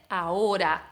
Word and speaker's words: ahora: Entonces, esta letra H existe dentro de la palabra ahora, pero como la gran parte de las H's en español no la pronunciamos, no hay sonido para esta letra, entonces se dice ahora, no se dice de otra manera.